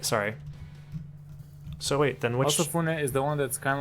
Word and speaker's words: Osafune: Osafune. That's how you pronounce it.